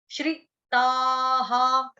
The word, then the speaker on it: श्रिताः: एक होता है श्री राम वाला, उसमें बड़ी की मात्रा है, इसमें छोटी की मात्रा है, श्री, श्रिताः, त आता, त आता, विसर्ग विसर्ग का उच्चारण हा।